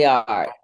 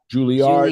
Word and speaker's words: Juilliard: So Erica Peeples is a building, and you need to pronounce this for me if I'm saying it wrong. Juilliard is where you went. Juilliard. Juilliard, Juilliard.